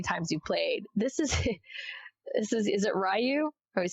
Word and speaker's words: Ryu: Is it Ryu? I always say it wrong. Ryu, yeah, this is your 28th game as Ryu.